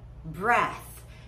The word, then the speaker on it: breath: Take a deep breath. Eu quero que você repita depois de mim. Repeat. Take a deep breath. Olha o TH no final. Breath. Breath. Agora, é claro que você